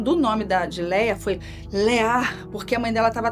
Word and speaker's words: Leah: Leá. Por isso, desse nome dela, a gente pronunciar o nome dela com esse alívio, essa coisa mais prolongada, Leá.